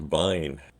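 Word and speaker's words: Wein: the American wine except the W is pronounced as a v so it's a Vine or you simply remember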